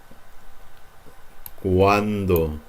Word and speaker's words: cuando: Cuando. Wa. When they're together, you're gonna pronounce these like wa.